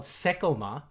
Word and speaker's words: Seicomart: culture yet again um so seiko mart the parent company is is called sekoma um and you know